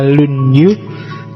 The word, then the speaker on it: Lunyu: Yang pertama judulnya Dasu, yang kedua Lunyu, bacanya misah ya, kalau disambung jadi Lunyu. Yo, kalau Lunyu licin.